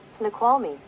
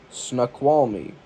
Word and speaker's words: Snoqualmie: officials closed off trail access points along the Snoqualmie? Snoqualmie. We're gonna pronounce that really quick. Pronounce that fucking word. Alright. What do you got, Google? Snoqualmie. Yeah, once more for the microphone. Snoqualmie. Snoqualmie.